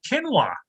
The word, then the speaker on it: quinoa: grace my kitchen table is canola or quinoa or quinine i don't know what it's called my wife calls it quinoa she's always gonna pronounce it properly all i know if